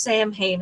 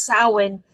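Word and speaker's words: Samhain: as aware but like it's not pronounced Sam Hayne it's sin but if you've only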